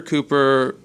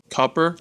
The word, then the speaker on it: Cooper: where he's from originally his pronunciation of his last name is not Cooper it's more like coer coer coer coer it's something that we're still struggling with his guidance was to say the word foot yeah and then pronounce cook the way our our press